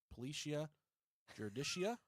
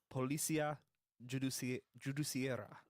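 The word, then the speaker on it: Polícia Judiciária: At 11:10 p.m., detectives from the Policia Judicia. That was the most gringo pronunciation Is that ever. right? Policia Judiciaria.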